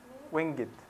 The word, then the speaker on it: winged: on please oh yes it's winged actually but important if you see this it means winged give it adds an extra syllable on you know I for the meter winged get chariot very